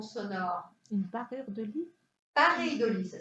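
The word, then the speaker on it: paréidolie: Mais c'est une pareidolie, c'est une illusion d'optique. Il y a aussi des illusions sonores. Une parure de lit? Pareidolie, ça s'écrit.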